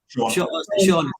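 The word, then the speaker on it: Siôn: did you pronounce that was it was it scion ceon sure sean yeah um yeah and sean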